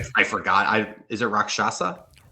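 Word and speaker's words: Rakshasa: I Is it Rockshasa? Wrath of Rockshasa.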